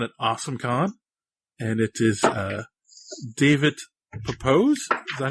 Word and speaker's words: David Pepose: And it is David Pepose.